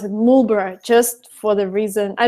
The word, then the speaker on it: Marlborough: in a town called Marlborough, but they would pronounce it Marlborough just for the reason, I don't know, there was no reason because they're British.